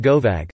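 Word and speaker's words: gobbag: This is Glioan or Glian Gobig, pronounced Govag, literally a dogfish, but used to mean someone from.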